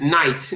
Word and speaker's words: night: you if you said night um good night it doesn't seems like you pronounce g at any point silent it's a silent letter yes so so I